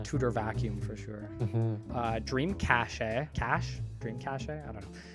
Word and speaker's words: cache: Dream Cache. Dream Cache? I don't know. How do you pronounce that? I think it's cash, Is right?